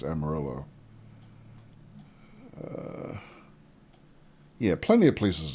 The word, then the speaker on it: Amarillo: and Emma Emma Amarillo I started to say Amarillo the Spanish pronunciation but I think technically it's Amarillo uh yeah plenty of